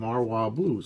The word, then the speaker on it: Marwa Blues: And the B-side is Marwa Blues. I always say that wrong. Marwa Blues. I said it right, I think.